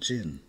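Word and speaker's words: Djinn: Yes, but we prefer to be called Jin. Spelled with a D, but the D is silent.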